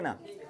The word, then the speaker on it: know: और बोलने की प्रैक्टिस करो, ठीक है ना। कोई दिक्कत? अब बताओ, मैं जानता हूँ कि वह एक पुलिस है। आई नो that. के का देखो यहाँ पे, देखो यहाँ के का, ये के साइलेंट है, ये के साइलेंट है।